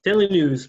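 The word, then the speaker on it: Daily Nous: owner of daily new is it pronounced yep daily news basically daily news n-o-u-s yes and we'll get to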